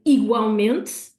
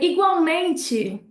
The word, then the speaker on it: igualmente: So it's almost like a whole other syllable that they put on there. So they would say igualmente in Portuguese.